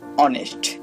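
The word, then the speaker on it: honest: Silent H. দেখুন আমি দুইটা উদাহরণ দিচ্ছি। Hour অনেস্ট।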